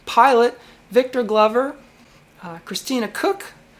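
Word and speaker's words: Koch: pilot Victor Glover, uh Christina Cook, name's pronounced Cook, experienced NASA astronaut, and Jeremy Henson.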